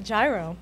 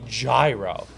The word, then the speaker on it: gyro: gyro exactly it's a gyro that that's what everyone's been saying it's gyro I agree don't worry because there are no wrong answers the official pronunciation is like the European money hero but since this